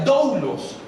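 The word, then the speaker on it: δοῦλος: Y siervos fue traducida de una palabra del griego que se pronuncia doulos, pero siervos al menos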